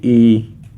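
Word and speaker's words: 이: लोगों के सामने टू लिखा हुआ है कहते ई यह थ्र लिखा हुआ इसे हम कहते हैं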